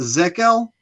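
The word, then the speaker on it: Zakelj: I have problems pronouncing his name. Is it Zekel? Nick Zakel. Zakel.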